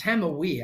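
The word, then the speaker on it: Hamawy: going to get into Dr. Adam Hamawi or Hamaway. Or it's Hamawi, actually. You can't correct me on that one cuz I phonetically wrote it out.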